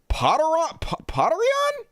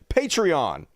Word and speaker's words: Patreon: It's pronounced Potterion? What? Potterion? That's how you pronounce it? No, it's not. Why would it be Potter? It's Patreon. Patreon. Right? It's like patron, but you're paying them.